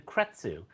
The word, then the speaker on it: Kretzu: I'm saying it correctly it's you know and then ketsu so it's exactly the way it looks kzu yeah and people have a hard time with it and I can never understand why because it looks just you know you know what it is phonetically exactly written the way it sound now is spelled